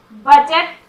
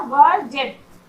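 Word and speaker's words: budget: बजट, यहाँ भी डी का साउंड नहीं हो रहा। बजट, बजट मतलब बजट।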